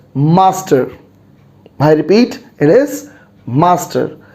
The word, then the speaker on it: Mstr: s t r and how do we pronounce it it is master i repeat it is